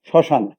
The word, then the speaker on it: শ্মশান: যেমন একটি শব্দ আমি বলি শ্মশান, তাহলে বা শয় মফলা, তাহলে বা শয় আকার দন্তান্ন, কিন্তু উচ্চারণটা যখন লিখবো তখন তালিবা শয়ের সাথে মফলা হবে না।